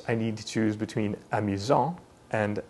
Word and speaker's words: amusant: happens with amusant and amusante. This means that the masculine version is pronounced amusant with a silent T, and the feminine version is pronounced amusante with the T pronounced clearly.